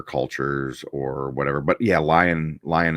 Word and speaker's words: Lion: or whatever but yeah lion lion l Johnson he's um uh um no it's lion that's his name his first name and then his last name is El Johnson not Lionel or Lionel lion